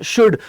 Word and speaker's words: should: कुछ लोग इसे बोलते हैं शुड। ध्यान रखना। कुछ लोग इसे शुड पढ़ते हैं। ठीक है? ये जो एल है तो ध्यान रखना एल नहीं पढ़ पढ़ेंगे। इस एल की प्रोनाउंसिएशन नहीं आएगी।